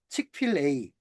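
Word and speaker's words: Chick-fil-A: 칙필 A라고 보통 발음을 하더라고요. 치필 A.이 이 브랜드가 어떤 브랜드냐?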